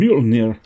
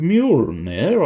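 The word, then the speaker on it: Mjölnir: J is pronounced like a Y. I'm assuming at some point I did not do that. Well, I think with Mjolnir I was doing sort of a Y, but I might be wrong.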